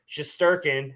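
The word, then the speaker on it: Shesterkin: up that list so he's i mean igor shasturkin i got that one right rich you did it awesome it's finally pronounced finally i pronounced this poor uh guy's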